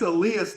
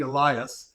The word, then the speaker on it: Elias: was really special um I think it's Alias Das and the reason I say that is I was asking before I went on how do you pronounce his first name yeah I was saying Elias and there's all kinds of different versions but when it got